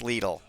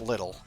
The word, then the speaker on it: Lidl: It is pronounced Lidl. The company that actually wrote the word Lidl pronounces it Lidl. Okay, so not little.